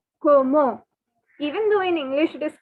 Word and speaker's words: comment: you the first word this word commend that you can see it is not comment okay it is pronounced as como even though in english